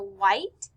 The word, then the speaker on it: white: For white, we see WH, so we just hear W.